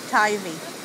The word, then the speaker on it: Teifi: Teifi. How do you spell that?